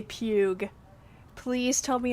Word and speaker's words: Pugh: I want to say Pugh. Please tell me it's pronounced Pugh. Florence Pugh. Pugh? You're Silver 3? Hell yeah. Who do you play again? You play like Venom, right? Aw, it's Pew.